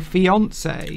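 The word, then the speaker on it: fiancé: engaged to becomes your fiance. Oh. So that's the man becomes the fiance. There's a little accent over there because it's a French word. Fiance. Fiance. Fiance.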